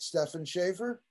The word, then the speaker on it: Stefan Schaefer: I hope I'm pronouncing it right. Stefan Schaefer? You got it.